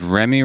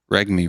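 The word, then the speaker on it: Reguilón: hate it but wait which one's right is remy right or is reg me right the g is silent my final thought is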